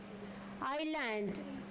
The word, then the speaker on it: island: Island. S silent.